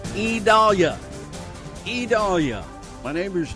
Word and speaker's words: Idalia: It's IDALIA. IDALIA. My neighbor's name is spelled the same way, but pronounced totally differently.